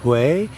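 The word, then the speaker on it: Huế: Hue in central Vietnam, spelt H-U-E and pronounced Hue. As you may recall in our previous lesson, you follow the line. So in the case of Hue, it goes up, so you go up.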